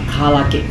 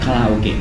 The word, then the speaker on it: karaage: Let's sprinkle some lemon on it This menu name is It's karaage fried chicken. Not karaoke (Is it possessed by the devil of obscenity?) It's not karaoke, it's karaage.